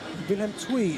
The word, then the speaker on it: Willem II: Okay, Willem II is the correct pronunciation.